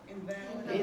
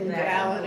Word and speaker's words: invalid: So if I put the emphasis here, which word is it? Invalid. An invalid. An ill person. Let's say a person who's ill and then if I